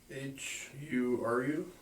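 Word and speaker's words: Hyry: Try to spell that. H U R U.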